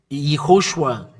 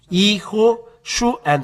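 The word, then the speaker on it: יההוֹשֻׁע: If we then read YAHHOSHUA, why? Yeho, because there is a dot here, Ho as H, and the 3 dots means U. SHU, it's separated here, it's separated here, it's separated here. YAHHOSHU, and the last separation, A. YAHHOSHUA. And this is the way to read this.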